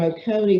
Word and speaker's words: Oconee: But up here, across from Oconee, is that how you pronounce it? Yep. Across from Oconee, there's this teeny little county there that is in the 5th quintile there.